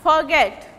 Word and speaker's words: forget: Suppose this is verb, forget, stress will be on the second syllable.